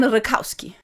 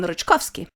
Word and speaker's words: Ryczkowski: He doesn't refer to himself as Jan Rykowski, but instead he pronounces it as Jan Ryczkowski.